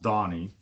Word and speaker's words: Danny: who don't know me my name is spelled danny but it's pronounced donnie um i've been on